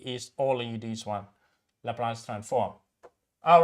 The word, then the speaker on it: Laplace: going to study is all in this one laplace transform all right uh so once you we